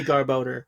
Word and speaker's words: Garbodor: It's garbage and odor. I've always said Garbodor, and I didn't know what they were going for.